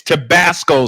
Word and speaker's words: Tabasco: I mispronounced it. It's Tabasco sauce.